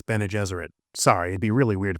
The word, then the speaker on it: Bene Gesserit: a religious myth that Ben Gesserit planted a long time ago. Whoops, my bad, it's Bene Gesserit.